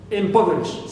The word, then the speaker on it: impoverish: syllable right before fly except for the word or the verb impoverish impoverish so here in this word only as an exception I should stress po the anti Ben ultimate all right uh syllable it means the one from the end why because it is an exception that's exception poish is